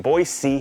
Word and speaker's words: Boise: Thanks for coming all the way from Boise. That's how we say it, right? You have to carry the S.